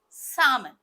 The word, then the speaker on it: salmon: is the correct preny salmon so basically L is supposed to be silent or you can say